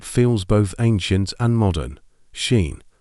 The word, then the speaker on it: Cian: Now for a boy's name that feels both ancient and modern, Cian, spelled Ciaran, and pronounced Cian.